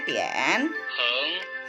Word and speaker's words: 点: Ini bacanya tian.